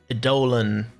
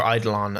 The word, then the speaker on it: Eidolon: But in this pack, I had to do like occultism, Botania, Eidolon, or Eidolon. I don't know which way. It can be pronounced either way.